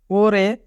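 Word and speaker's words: 올해: ওরে মানে এ বছর। যদি রিউল বাচ্চিমের পরে হিউত থাকে তবে রিউল বাচ্চিমটি হিউতের স্থানে চলে যায়, তাই এখানে উচ্চারণ হবে ওরে মানে এ বছর।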